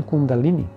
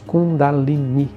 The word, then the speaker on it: Kundalini: Como Kundalini, que é possível que haya escuchado a pronunciação Kundalini. Está mal. A pronunciação correta é Kundalini, com o acento na última sílaba.